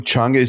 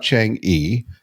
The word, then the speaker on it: Chang'e: So tell us all about the triumph of Chang'e 6. Yeah. Which I was tutored on pronouncing. It's not Chang'e, as I have been saying. It's Chang'e.